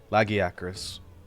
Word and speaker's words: Lagiacrus: a sharp a, but it turns out the correct pronunciation is close to what I said. It's just sharp a's instead. So instead of loggy, it's just laggy. Lagiacrus. And the syllable break is like right in the middle instead of the front or the back.